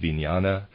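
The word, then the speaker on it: vijnana: new Earth's life this third force is called vinyana equals consciousness I'm pronouncing it viniana reader's aside it is spelled v-i-j-n-a-n-a and the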